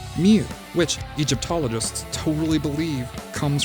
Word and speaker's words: mjw: were called was that spelled mjw in phonetics which was likely pronounced mew which egyptologists totally believe